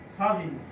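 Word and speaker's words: 사진: হচ্ছে কি সাজিন এভাবে এটা জাজিন না এটা হবে সাজিন তারপরে হচ্ছে শব্দের প্রথমে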